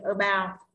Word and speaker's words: about: Nó chỉ là âm tiết đầu tiên, about thì âm ao nhận trọng âm là bao, đúng không?